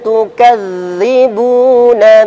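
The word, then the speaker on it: تُكَذِّبُونَ: Kalla bal tukadzibuna biddin. Kalla bal tukadzibuna biddin. Ya, untuk huruf dzal ketika ditasydid maka dia mengalir dulu. Ya. Tukadzibu. Tukadzibu. Kadang kesalahan terjadi membacanya tertahan, tukadzibu. Yang tertahan yaitu huruf dzal.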